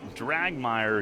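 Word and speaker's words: Dragmire: from the new pitcher Brady drag Meyer who makes his New Britain debut rhymes with quagmire he fires and it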